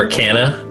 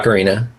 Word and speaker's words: ocarina: an Arcana. That's like a clay flute. Oh, cool. Wait, like an ocarina? Or Yeah, ocarina. okay, yeah. Yeah, okay. It's a mispronounced ocarina.